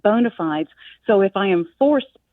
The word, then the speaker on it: bona fides: it and I'm like the clean contemporary sound of Bona fides instead of the Latin which as you say sounds a little pretentious exactly so Bona fides